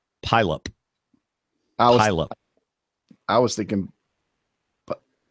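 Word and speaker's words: Puyallup: l u p okay based on the fact that they don't pronounce all their vowels I'm gonna say pyop pup I was thinking pup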